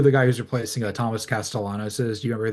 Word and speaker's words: Castellanos: No, we know it's Castellanos, not Castellanos, because Yes. it's different. When you're from the South, there's no Y's. It's two L's, son.